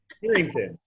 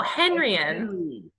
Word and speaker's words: Henrian: Did I say it right? No. Alexa Not even close. Harrington. No, Henrian.